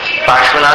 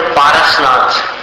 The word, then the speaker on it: पार्श्वनाथ: अब हिंदी में क्या होता है कि पार्श्व, पार्श्वनाथ भगवान का जो नाम है उसका उच्चारण कुछ लोग नहीं कर पाते, तो उन्होंने पारसनाथ ये सरल नाम बना दिया। पारस ये मूल संस्कृत शब्द नहीं है, लेकिन हिंदी में बना लिया है लोगों ने, पारसमणि।